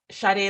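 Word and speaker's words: Sade: Charlie Curry so uh the S is pronounced with an s h it's shade like the singer the British singer uh who sang Smooth Operator if you've ever heard that song my name is pronounced just like hers I am a relationship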